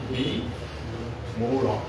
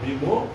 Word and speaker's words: বিমোহ: লিখতে পারবেন কিং কর্তব্য বি মোর বিমোহ উচ্চারণ বিমোর না বিমোহ আপনারা লেখেন তারপর আমি